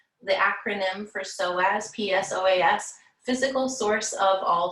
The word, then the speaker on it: psoas: We lengthened psoas, we strengthened psoas.